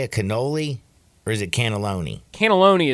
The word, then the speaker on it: cannoli: Cannoli! You've been saying cannelloni all Dude, cannelloni, month cannoli.